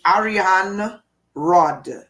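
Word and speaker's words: Arianrhod: this is the Celtic goddess I can never pronounce the name properly it's Ariane Rod Ariane Rod okay she's depicted as a spider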